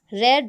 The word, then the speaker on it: read: Here the pronunciation changes. In the present form you have to say read. In the past and the past participle you have to change the pronunciation changes. Read, read.